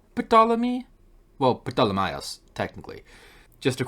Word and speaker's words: Ptolemy: But with this being a loan word from Greek, I think Latin would keep the pronunciation as Ptolemy.